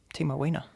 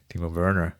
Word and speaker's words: Timo Werner: Timo Wiener. Timo Wiener. Is that how you pronounce it? Timo Wiener? Timo Wiener. Timo Werner.